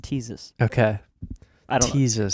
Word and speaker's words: Ctesias: Yeah, it's spelled Ctesias okay. and pronounced Teezus.